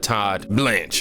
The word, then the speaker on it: Todd Blanche: And that's exactly what Todd Blanche, I had to make sure I said his name right because I heard him say his name earlier, did to Cohen.